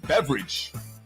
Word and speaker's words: Beveridge: name of Dr Andrew Beveridge not spelled like the drink beverage but sounds like beverage who is the guy